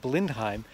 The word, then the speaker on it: Blindheim: little tiny village of Blindheim. The reason it's called Blenheim in English is because French reconnaissance soldiers didn't quite know how to get the pronunciation in German right, so they turned Blindheim into Blenheim.